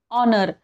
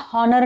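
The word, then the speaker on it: honour: letter second word बघा ऑनर आपण याला हॉनर नाही म्हणत ऑनर म्हणतो स्पेलिंग मध्ये एच आहे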